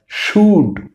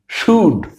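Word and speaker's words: should: তাহলে কি হয়ে গেল স যোগ উড কি হয় শুড, শুড।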